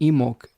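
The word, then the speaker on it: Imbolc: I'm I hope I'm I'm pronouncing emo uh with the silent B correctly as well Devon says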